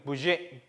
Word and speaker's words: Budget: budget, das budget. 끝에 T는 소리가 나지 않습니다.